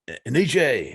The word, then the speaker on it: Aniche: I think I called him last night, and I said Aniche, and he's like, "Man, you're the first reporter ever to get my name right."